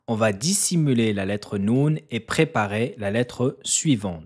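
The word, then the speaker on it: نون: Habituellement, la lettre Noun se prononce avec le bout de la langue qui rentre en contact avec le début du palais.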